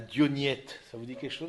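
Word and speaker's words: Diognète: Donc, la lettre à Dionyette, je vous invite à la lire, cette lettre-là. Dire comment est-ce que le chrétien se situe dans le monde? Dionyette, comme ça se prononce, avec un accent grave.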